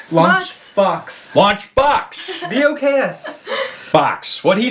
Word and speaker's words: Launch Boks: So it's a company called Launch... Box. B-O-K-S. Yes. Not Lunchbox. I'll probably say it wrong. Lunchbox. Dare I say it wrong now. Launchbox. Yep. Launchbox.